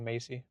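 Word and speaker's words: Maize: character, whose name is Macy, or Maze, or I don't know, it's spelled weird, but it's pronounced like Macy.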